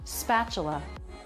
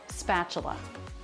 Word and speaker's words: spatula: Spatula. Notice the letter T here makes a CH sound. I think a lot of people would probably misspell this word putting in a CH. Spatula.